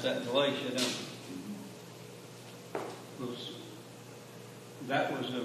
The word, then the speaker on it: Galatia: We pronounce that Galatia, don't we?